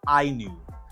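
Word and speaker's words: INIU: from a company that is spelled i n IU and uh they say that that is pronounced IU there's a lot of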